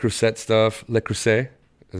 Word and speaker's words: Le Creuset: so I had got some like rosette stuff Le Creuset is how you say it um and I